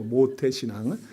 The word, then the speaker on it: 모태신앙: 잘 발음하셔야 돼요. 거기다 미음에다가 오에다가 시옷하면 안 돼요. 모태, 그게 아니고 모태신앙.